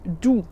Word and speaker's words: du: Tu, c'est presque pareil, on change juste la première lettre, c'est du. Donc ça s'écrit aussi DU, mais le U se prononce OU en allemand.